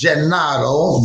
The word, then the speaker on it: Gennaro: In Italian, in Di Napoli, it's Gennaro, but it's Jumpin' Gennaro to everybody else.